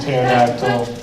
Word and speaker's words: pterodactyl: The P is silent in pterodactyl.